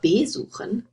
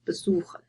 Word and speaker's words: besuchen: So, for example, you have verkaufen to sell or besuchen to visit, and I underlined the word stress here, so you wouldn't say verkaufen or besuchen, you would say verkaufen and besuchen.